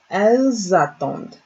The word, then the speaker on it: Elles attendent: There's a liaison between two of them. So this is pronounced as attendent. Elles attendent. You get that Z sound from the S and the A being together.